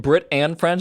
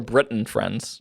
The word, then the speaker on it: Brit and Friends: Is it Brit and Friends or Britain Friends? Brit and friends. Okay. But it's pronounced Brit and friends. Yeah, the friends from Britain. Yes.